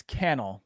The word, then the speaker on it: Cannell: is um so sean it's cannell by the way oh sorry no that's okay the the i'm going to tell you how i how i remembered that is because he told me can all rhymes with channel and so now i